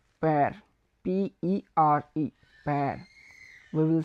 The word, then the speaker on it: père: So if we wanna say father in French, so we will say père, père, Pere, père.